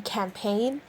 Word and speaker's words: campaign: the h in honesty the g in campaign the h in while